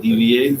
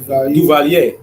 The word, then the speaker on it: Duvalier: DVA? Duvalier.